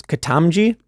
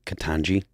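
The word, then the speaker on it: Ketanji: How do you pronounce this? Katamji Brown? Is that how you pronounce her name? Katanji.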